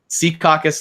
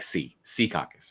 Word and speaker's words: Secaucus: yeah well yeah yeah Secaucus like see see caucus okay there it is